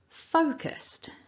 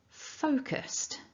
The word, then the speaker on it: focused: the same sound so what you're aiming for is foe and remember it's strong so do some magic hand gestures or whatever you need to do to get that strong syllable out when you repeat after